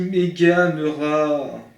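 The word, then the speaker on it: Meganeura: La prononciation ? On dit Meganuera.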